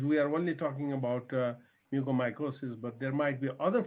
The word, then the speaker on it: mucormycosis: By the way, the R is silent, so it's pronounced as mucormycosis.